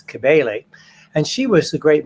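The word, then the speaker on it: Cybele: of is sometimes she's sometimes called sibel c-y-b-e-l-e Greek pronunciation is kebale and she was the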